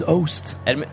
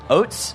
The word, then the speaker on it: Oast: Oats? No, it's Oast.